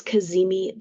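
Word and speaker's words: cazimi: talk about today today Venus is kazimi the sun okay that is spelled c a z m i and what it means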